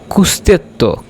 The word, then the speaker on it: costretto: কুস্তেত্ব। কুস্তেত্ব বলতে হবে। ইতালিয়ানরা সবসময় বাধ্যতামূলক যখন বলে তখন কুস্তেত্ব উচ্চারণ করে। সো এটা কি হবে? তু সেই stato costretto ad andare.